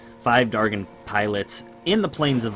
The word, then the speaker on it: Dargyn: what it is is killing five Dargan pilots I believe this way it's pronounced five Dargan pilots in the plains